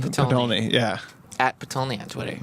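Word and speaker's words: Potulny: Grant Patolny? Patolny, yeah.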